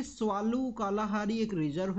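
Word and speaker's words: Tswalu: जाए आप देखिए कि स्वाल कालाहारी एक रिजर्व है अफ्रीका के अंदर में यहां पे टी लिखा जाता है स्वाल कालाहारी स्वाल ये टी बेसिकली साइलेंट रहेगा और स्वाल कालाहारी नाम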